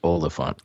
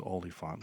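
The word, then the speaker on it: Oliphaunt: It's pronounced Oliphant. I know. I keep saying it wrong. It's Oliphant. Oliphant jerky.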